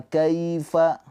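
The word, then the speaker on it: كَيْفَ: Cara bacanya dilembutkan kai ke huruf ya. Kalau wau jadi kau gitu ya. Dan ini ke huruf ya. Wa kaifa. Ingat ya, ini harfulin bukan mad lin. Jadi jangan dipanjangkan.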